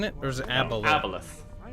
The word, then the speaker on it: Aboleth: what about him versus Aboloth? A-B-O-L-A-O-T-H? What's that? Aboloth. Aboleth. It's Aboloth, isn't it? Or is it Aboleth? Aboleth. That's how you pronounce that? Even with the O there?